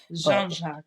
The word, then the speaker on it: Jean-Jacques: Jean-Jacques. Yeah. Sorry about that. You could say Jean-Jacques or you can say Jean-Jacques. Jean-Jacques. Yeah, I like that. Sound a little French.